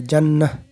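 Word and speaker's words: جنة: যেমন এখানে দেখুন জান্নাতুন, জান্নাতুন যদি আমরা পড়ি মিলায়া পড়ি আর একটার সাথে তাহলে জান্নাতুন হবে। আর যদি ওয়াকফ করি তাহলে জান্নাহ।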